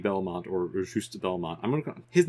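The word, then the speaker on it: Juste: it did you did you expect to see justy Belmont or ju Belmont I'm gon his name is ju I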